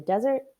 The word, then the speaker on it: desert: fur that changes color coyotes live in the desert mountains and plains they howl to communicate to other coyotes pronunciations for names in the selection are big